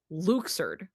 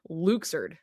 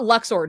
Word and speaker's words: Luxord: So, um, so his name is canonically pronounced Luxer. What? And we did we did not know this until Kingdom Hearts 3. Um, because they just so happen Luxer.